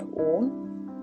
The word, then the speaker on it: Om: Now Om is made of 3 syllables, A-U-M, and we will try to give every syllable the weightage and the time. A and U together sound O.